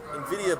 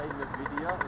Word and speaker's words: Nvidia: I'm sorry, I find it humorous that you say Nvidia instead of Nvidia, because one is a brand of like hand lotion and the other is a graphics card company. Nvidia. Nvidia.